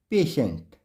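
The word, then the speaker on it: patient: है तो रूल है टी के बाद अगर आई ए आई ई आई ओ दिखे तो टी का उच्चारण श होता है उदाहरण से समझते हैं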